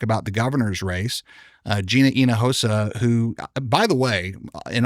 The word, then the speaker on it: Hinojosa: That it's not Hinojosa, it's Inahosa. I didn't know that until just the other day. In fact, at our 16th anniversary party in Dallas, someone said, "Hey man, you're saying it wrong."